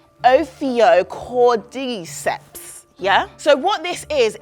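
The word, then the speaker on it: Ophiocordyceps: favorite words actually yeah you got to say it like oio cord deeps yeah so what this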